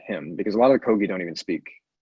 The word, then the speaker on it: Kogi: and yeah you know I don't want to mispronounce this again the Kogi Kogi yep the Kogi tribe and and really feeling